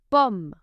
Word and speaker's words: pomme: In French, letter O sounds O unless it is placed before two consonants. It will sound O. O. Une pomme.